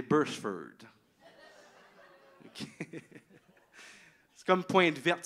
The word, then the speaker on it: Beresford: Parce que vous savez que ça ne se prononce pas Beresford, hein? C'est Bursford.